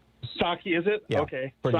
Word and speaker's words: Psaki: Yeah, although I think the P is silent, isn't it? Isn't it Psaki? Psaki, is it?